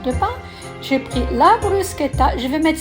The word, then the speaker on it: bruschetta: Ça s'écrit bruschetta, mais ça se dit bruschetta.